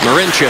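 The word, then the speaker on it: Marinčin: Marincin.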